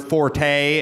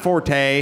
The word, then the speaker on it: forte: Like when Penn Jillette said the word forte is not forte, it is fort.